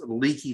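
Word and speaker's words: Leakey: here's lakey texas it's pronounced l-e-a-k-e-y but it's pronounced leaky texas and i'm not gonna show you exactly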